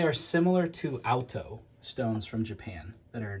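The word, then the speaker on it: Aoto: So these stones I would say are similar to alto stones from Japan that are natural wet stones and that's a o t o. I think alto is the right way to pronounce it and they're a similar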